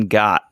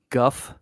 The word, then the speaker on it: Gogh: cranner how about van got van got it like Van Gogh and Ben wind Ben went Vincent van went you know I think his name is actually pronounced Guff not go yeah yeah oh well